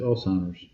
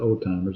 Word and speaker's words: Alzheimer's: Yeah, it's Alzheimer's. It's not old timers.